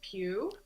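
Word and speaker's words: Pugh: think or vill I sorry I'm terrible about pronunciations um Timothy shalam zanda Austin Butler and it's actually Florence Pew sorry yeah no worries Rebecca Ferguson Javier bardam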